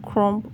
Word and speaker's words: crumb: it can be called crumb coating. You're using cake crumbs for it, so that's why it's called crumb coating. It is spelled as crump. I don't mean p, I mean b.